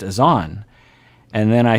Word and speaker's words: Azan: time and then i started hearing them say azen and i was mortified that i had been saying the name wrong the whole time but then someone emailed